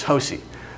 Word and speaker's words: Josie: name is josie uh it's kind of spelled like rosie but it's hosie and she's got four other